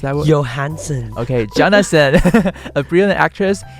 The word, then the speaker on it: Johansson: And this film also stars Scarlett, how do you pronounce that word? Johansson.